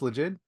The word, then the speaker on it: Legit: Mostly we call it legit. Legend. Okay. Like a Legit. legend. Legit, yes. Yeah. But you can pronounce it as you like, because the word legit derives from two words, legal and ID.